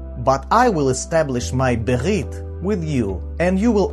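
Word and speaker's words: בְּרִית: Berit. Berit.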